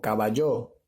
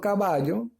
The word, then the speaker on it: caballo: Bueno, ya te di una, que era el ejemplo de caballo, ¿no? Si yo digo caballo, no suena bien. O caballo, tampoco suena bien. Sin embargo, si digo caballo, sí suena correcto.